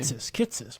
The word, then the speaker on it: Kitces: Kitces, how do you pronounce his name? Kitces, Michael Kitces.